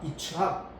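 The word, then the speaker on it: יִצְחָק: 그 이름을 이츠학, 정확한 발음은 이츠학인데 이츠학. 우리는 한글에서 이삭으로 그렇게 번역을 했고 영어 발음은 이제 아이잭 그렇게 하는데, 그 이삭을 낳았단 말이에요.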